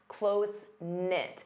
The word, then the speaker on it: close-knit: You can say they're closenit. Notice the K is silent. Closenknit.